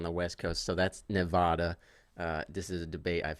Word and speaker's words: Nevada: from the East Coast, I gotta say it's Nevada. That's how we say it on this side of the country, and I think that's the right way to say it because who named the West Coast?